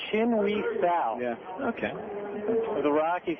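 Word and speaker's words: Chin-hui Tsao: It's Chin-Wee Sal.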